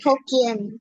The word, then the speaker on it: Hokkien: And so they just felt comfortable speaking Hokkien, which is Hokkien, is it? H-O-K? Hokkien. Yeah, you Hokkien, yeah.